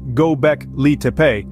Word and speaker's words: Göbekli: human-built religious structure known to us gock liepe pronounced gobec Lee carries an intriguing meaning belly Hill it stands